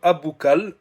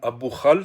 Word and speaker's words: Aboukhlal: Donc, le joueur Aboukal, ou Aboukhal, selon la prononciation, le célèbre joueur marocain